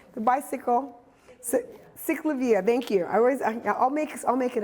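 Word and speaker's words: CicLAvia: I was just talking to somebody about cyclica. Am I saying it right? The bicycle. Cyclavia, thank you.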